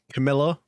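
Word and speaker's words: Camellia: The Camila Bowl, I believe it's pronounced.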